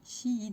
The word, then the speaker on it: Shein: Je ne dis plus Shine, parce que mon copain il s'appelle Shan. Shane. Enfin, ça s'écrit Shan, mais ça se dit Shane. Voilà. Du coup, j'évite de dire Shane, l'application. Je dis Shein maintenant. Et sachant que ça se dit Shein, parce qu'avant, ce que